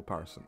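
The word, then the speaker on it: upharsin: In Hebrew, you want to say and something, you put a vav in front of it, and you pronounce it, and depending on what it is and what comes before, it be pronounced with a vowel, with a oop. So, mini, mini, tekel, uparson.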